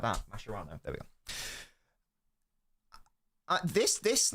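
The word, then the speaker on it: Mascherano: Mashano. Don't know why I pronounced it like that. Masherano.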